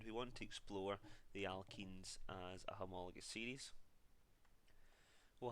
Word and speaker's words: alkenes: So it's a very, very subtle difference, and it's a slight pronunciation change as well. When it's E-N-E in this case, it's the alkenes, and the last homologous series that we looked at when it was A-N-E was the alkanes.